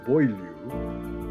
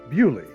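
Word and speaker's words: Beaulieu: england's national motor museum in the village of boilie or as the locals say bully for the gearhead or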